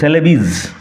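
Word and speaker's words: Celebes: কালো টাম ব্ল্যাক সেলেবিজ উচ্চারণ লক্ষ কর সেলেবিজ সেলেবিস অপ সেলেবিস কথার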